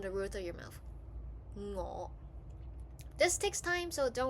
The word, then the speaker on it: 我: If you want to pronounce it, try imagine when you initiate the sound, stick the back of your tongue to the roof of your mouth while the tip of